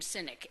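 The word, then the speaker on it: Sinek: youtube clip from Simon I believe you pronounce his last name cynic si Nek and he was doing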